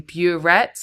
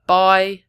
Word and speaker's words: biuret: One common mistake here is writing burette instead of biuret. They will accept if you've spelt it incorrectly, but phonetically it sounds the same. But I just split it up here just to try and help you remember. Biuret. Don't say burette, you're going to lose the mark.